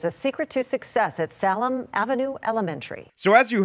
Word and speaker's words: Salem: don't understand is that Salem is actually named for the city of Jerusalem so no it is not in any way Salam University you better check